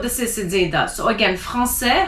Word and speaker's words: français: So again, français has a CCD because you don't want to say franquais.